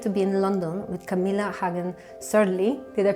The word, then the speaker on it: Camilla Hagen Sørli: have the pleasure to be in London with Camila Hagan serly did I pronounce it in the orig way yes very